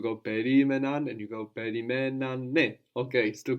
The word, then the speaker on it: περιμένανε: Very good, perimenane.